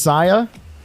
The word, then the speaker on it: Saya: It's pronounced Saya. Oh, my bad. My bad, Saya. I got it right now.